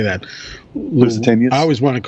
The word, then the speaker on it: Lusitania: Lusitanias? I always want to call, yes, Lusitanias.